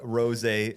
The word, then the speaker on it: Rosé: business name wrong Cola Ros shower yes and you can find her on Instagram Cola Ros r o e with the apostrophe above it not on Instagram it's